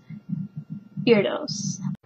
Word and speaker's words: Erdos: Now, obviously that's not correct technically because it is a Hungarian name and that is not the Hungarian way to pronounce it.